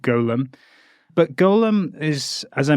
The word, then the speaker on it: Golem: call called the Golem Golem is different in pronunciation from Gollum AKA smeagle from Lord of the Rings so I'll try not to pronounce it Gollum but Golem but Golem is as